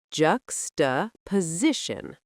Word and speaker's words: juxtaposition: For pronunciation, pay attention to juxtaposition with stress on the third syllable. Juxtaposition.